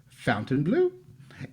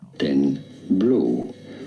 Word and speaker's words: Fontainebleau: Like Fontainebleau. Fontaine meaning fountain in French, and then bleau, E-A-U, forming the sound O, of course, in French. It'd be fine in English to say it as Fontainebleau.